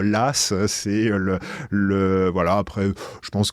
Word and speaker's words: Law: Après, c'est comme John Law. On devrait dire Las.